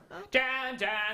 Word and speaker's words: Jan: Jan, it rhymes with ham.